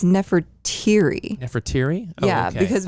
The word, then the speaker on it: Nefertiri: Well, it sounds like Nefertiti, but then we saw it. Nefertiri.